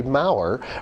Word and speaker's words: Mower: Did I say it right? Yeah, It's Maurer.